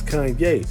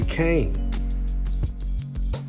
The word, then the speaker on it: Kanye: Now all I need is y'all to pronounce my name is Kanye, but some of my plaques to say Kane."